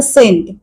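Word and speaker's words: scent: असं जर मी म्हटलं सेंट सेंट म्हणजे अत्तर आता सेंट स्पेलिंग काय आहे एस सी एन टी याच्यात एस स चा उच्चार केलाय पण सी चा उच्चार त्यात नाहीये म्हणून सी हे अक्षर सायलेंट आणखीन एक शब्द पाहूया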